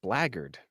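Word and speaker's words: blackguard: Black Guard it's a 13 human Rogue that's pronounced blackard blackard yeah I know okay I'm playing a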